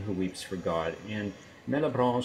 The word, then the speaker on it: Malebranche: But I'm going to pronounce it Malebranche. Oh, Malebranche, yeah, that's as good as I've got it, yeah.